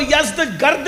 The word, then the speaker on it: یزدگرد: یزدجرد، اس کو یزدگرد بھی کہتے ہیں ایرانی لب و لہجے میں، عربی میں یزدجرد کہتے ہیں.